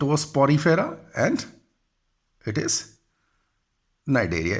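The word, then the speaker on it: Cnidaria: देखिए, नाइडेरिया जब लिखते हैं तो सी जो है इट इज साइलेंट होता है. तो कई बच्चे जो हैं वो इसका प्रोनाउंसिएशन के लिए कई बार पूछते हैं. तो इट इज नाइडेरिया, C silent है.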